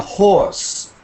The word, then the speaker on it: horse: A horse. Horse. When you say horse, make sure it sounds like an oar, like oar.